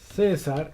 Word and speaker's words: César: César, en este caso, des en cuenta que no lo... César es una palabra, en este caso, grave, que tiene acento en la penúltima sílaba.